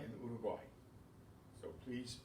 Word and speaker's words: Uruguay: I know in English we say Paraguay and Uruguay, but it's not in Spanish. Paraguay and Uruguay.